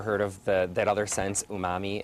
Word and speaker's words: umami: So there's unami, right? Is that how you say it? Okay, umami, savory, sweet.